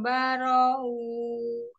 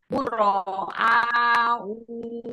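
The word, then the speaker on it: بُرَآءُ: Buro'a, maksudnya inna buro'a, A-nya yang panjang ya. Ya, bro. Inna buro'a wa minkum wa Bukan mimma. wa ini u. Bukan wa, tapi ini wadahnya Hamzah aja ya. Jadi u yang dibacanya.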